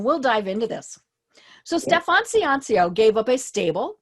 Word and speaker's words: Stefan: By the way, I'll just let you know the pronunciation is Stefan. Stefan.